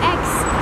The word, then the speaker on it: Aix: what are you think ex even at the zoo come on let's go it's x a i ex but with but you don't hear the a part it's like x x on Pro no